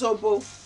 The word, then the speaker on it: zobo: And way back in Nigeria, we call this zobo. Um, it is spelled Z O B O.